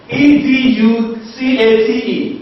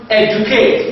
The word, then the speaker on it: educate: For instance, in the word educate, it is not pronounced educate, it is pronounced educate. In this word you have, so the D is pronounced as well as ja, ja.